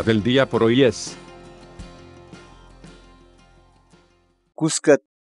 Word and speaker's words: kuska: de videos en la que te enseñamos a pronunciar algunas palabras en quechua. Así que nuestra palabra del día por hoy es... Cuscat. Cuscat.